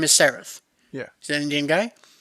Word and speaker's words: Sarath: he's an indian guy his name is spelled s-a-r-a-t-h when i saw the message yeah the text i thought it was misspelled i thought i was supposed to talk to someone named sarah okay so he just spilled